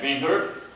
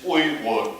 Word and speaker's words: Uyghur: And Uyghur in English, sometimes they pronounce it as Uyghur. It's Uyghur in our language.